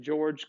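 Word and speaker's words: Georges: by the name of george clements so i know his first name looks like george's like with an s but you don't pronounce the final consonant in french right and george clement so they called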